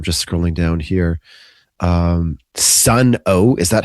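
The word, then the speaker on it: Sunn O))): Um, Sun O, is that how you pronounce it? It's like Sun O.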